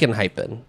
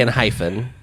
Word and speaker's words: Enhypen: I think it's cool it's annoying that people can't pronounce it and hypen cuz when you're reading it you see the hyen yeah but yeah a lot of people say and H say and hyphen and it's not okay so um I wrote